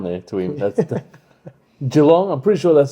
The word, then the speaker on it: Geelong: If the ball gets down there to him, that's the Geelong.